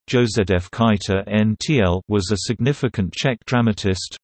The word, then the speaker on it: Josef Kajetán Tyl: Josef Kajetán Tyl, the 4th of February 1808 to the 11th of July 1856, Czech pronunciation, Josef Kajetán Tyl, was a significant Czech dramatist, writer, and actor.